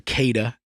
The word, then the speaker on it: Cada: I'm sorry, Cada. Wait. How do you say it? It was Cada. But you were saying Cotta. I was saying Cotta, yeah.